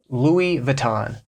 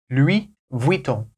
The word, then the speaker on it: Louis Vuitton: so if you're in the USA it's easiest most recognizable to say Louis Vuitton and if you're in France you can say Louie Von so this next brand